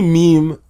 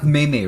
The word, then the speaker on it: meme: pronunciation of meme um Is MeMe yeah it's not mayay right because I keep hearing that like I'm pretty sure it can't be mayay cuz it sounds weird well um what's it